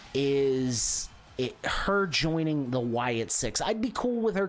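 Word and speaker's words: Wyatt Sicks: As Asuka makes her way to the ring, I think the sixth person, you know, because it's supposed to be the Wyatt Six, even though it's spelled S-I-C-K-S, the sixth person should be Bray Wyatt always.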